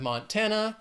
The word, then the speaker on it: Montana: Then we have Montana. Three syllables, stresses on that second syllable. Montana. Montana.